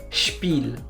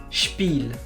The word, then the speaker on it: Spiel: Nous avons aussi la combinaison SP qui se prononce SHP. SHP. Par exemple, Sport. Sport. Ou encore Spiel. Spiel. Ou Sportler.